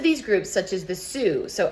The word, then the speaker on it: Sioux: Most of these groups, such as the Sioux, so S-I-O-U-X there is pronounced Sioux. It's a French word.